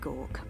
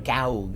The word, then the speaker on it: Goug: the clockwork city of Gawk. That's how you pronounce that? Oh my god, I've been seeing gaug all these years.